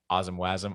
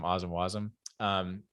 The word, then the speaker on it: Wasm: It doesn't matter. Like Wasm, Wasm. It rhymes better that way.